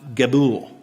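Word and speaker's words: גבול: It's pronounced Gebul.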